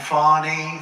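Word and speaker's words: Fani: including local d and local attorney generals and fonny fonny you know fonny spelled f a n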